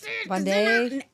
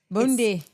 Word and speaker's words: Bondi: I have received 2 or 3 messages from people on the pronunciation of that. Bondi Beach. No. Bondi. Bundi.